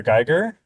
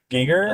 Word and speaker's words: Giger: yeah and like uh I I always say his name wrong but HR HR Gyer Giger yes was going to do did